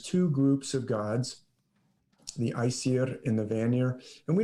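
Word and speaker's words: Æsir: It was the first battle is between the Aesir gods, or actually I'll pronounce it Aesir.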